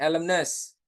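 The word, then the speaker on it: alumnus: Nah, kalau cuman satu sebutannya elemness, Teman-teman.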